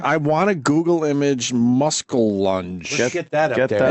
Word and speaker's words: muskellunge: He said, "I think it's pronounced muskellunge will take your arm off in a lake." A muskellunge? So I just want to. I want to Google image muskellunge.